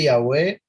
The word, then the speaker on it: Yahwéh: con e Entonces ya la v se pronuncia como u entonces yahu y la